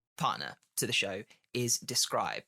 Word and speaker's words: Dscryb: The other partner to the show is Describe. Describe is spelled DSCRYB, and if you hit